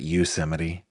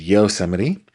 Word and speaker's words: Yosemite: A lot of people pronounce that Yosemite. It is Yosemite.